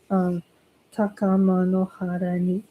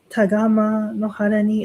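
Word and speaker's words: 高天原に: everybody, the first part of Amatsu Norito goes Takama no hara ni. And if I said, like for example, taga tagama no hara ni, like I mixed up the syllable, it's okay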